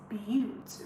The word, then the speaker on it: Butte: Somebody said it's butte, rhymes with cute.